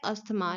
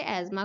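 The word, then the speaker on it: asthma: अब देखिए यहाँ पर जो कॉमनली प्रोनाउंसिएशन होती है वो होती है अस्थमा। लाइक कॉमनली लोग इसे अस्थमा ही बोलते हैं, वैसे इसे एज़मा कहा जाता है। सो कई बार मैं भी इसे अस्थमा ही बोल देती हूँ, बट इसका एक्चुअल प्रोनाउंसिएशन एज़मा है।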